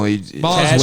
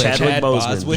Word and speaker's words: Chadwick Boseman: No, Boswick. Chadwick Boseman.